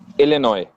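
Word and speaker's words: Illinois: spell सही किया नस लिनॉय लिनॉय एस साइलेंट आई सी आई सी ओके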